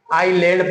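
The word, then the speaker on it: island: के बीच में यानी आई और एल के बीच में एस लेटर अगर हो तो एस लेटर को हम क्या पढ़ेंगे साइलेंट पढ़ेंगे उसका प्रोनाउंस नहीं करेंगे जैसे कि एग्जांपल में आप देख सकते हैं लिखा क्या है आई एस एल ए एन डी अब पढ़ेंगे इसको क्या आईलैंड पढ़ते हैं इसका मीनिंग होता है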